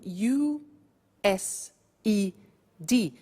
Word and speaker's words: used: now this verb used to well it's written u s e d but the pronunciation is used and we'll see that on